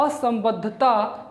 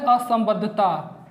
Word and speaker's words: असंबद्धता: लिख लिया ये चीज़ें, लिखिए भूपटल मेंटल को विभाजित करने का कार्य मोह असंबद्धता करता है। अब ध्यान दीजिए, यहाँ पर जो मैंने शब्द का उच्चारण किया यह है असंबद्धता, असंबद्धता, ठीक है।